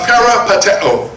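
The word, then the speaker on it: περιπατέω: Now that word walk, you see there in the 15th verse, comes from another Greek word pronounced parapateo. Parapateo, P-A-R-I-P-A-T-E-O, which means more than walking, but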